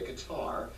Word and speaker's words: Qatar: tell the sovereign arab country of qatar or as the brits say qatar is the richest country